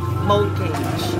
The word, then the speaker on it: mortgage: Wrong, it's mortgage. Ah, mortgage. Yung mortgage. Ah, yung T pala yung silent. Mortgage. Walang T.